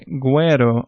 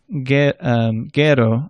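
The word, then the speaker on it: güero: Now what if you see a U with 2 little dots over it? Well, that means that a U that would have otherwise been silent is now pronounced. So you say guero or agüita. If it didn't have those 2 dots, you would have said guero or aguita.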